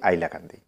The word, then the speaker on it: হাইলাকান্দি: আজও আমরা অনেকে হাইলাকান্দিকে হাইলাকান্দি উচ্চারণ করি না, আমরা বলি আইলাকান্দি।